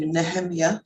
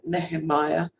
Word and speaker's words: Nehemiah: from Amos 710 to nehemia or Nehemiah depending on where you're from and how you pronounce his name eight nine with the